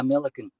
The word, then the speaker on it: Millikan: Is it Millikan? Is that how you pronounce it? Yeah, Millikan.